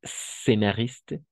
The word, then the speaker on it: scénariste: Ah, ici, on va prononcer scénariste directamente a la S, sin pasar por la E.